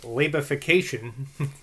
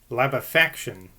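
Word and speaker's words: labefactation: how i pronounced it labification uh there isn't such a latification of all principle as maybe injurious to morality this is referring to beggar's opera well apparently that word is uh pronounced lab affection i don't know how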